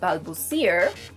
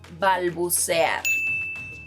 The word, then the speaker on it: balbucear: Another verb is, no, this verb is not pronounced balbucear, it's pronounced balbucear, and it means to stutter, which is what I do whenever I'm recording videos for Spring Spanish.